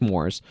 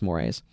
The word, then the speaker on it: mores: It looks like mores, but I think it's mores, like eagles.